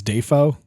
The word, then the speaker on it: Dafoe: He the proper pronunciation of his last name is Defoe. Oh, I did not know that. But Defoe just worked better.